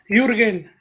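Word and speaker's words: Jürgen: In Mexico is Jurgen. Jurgen. So I should call him Jurgen.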